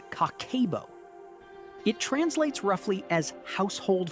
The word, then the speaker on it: Kakeibo: a Japanese method called cabo pronounced cockabo.